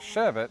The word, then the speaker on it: sherbet: Arabic word serea, meaning Americans have often times gotten into the habit of sounding out an extra R in the final syllable.